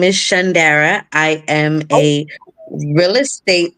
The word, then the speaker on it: Shondara: of this you will definitely remember it and pronounce it it's Shand Dara I got you say no more okay so